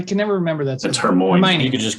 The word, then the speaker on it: Hermione: That's Hermione.